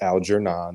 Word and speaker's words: Algernon: full first name is algernon that's with a g not a j a lot of people give me the hard g but that's that's not how you pronounce it um i am in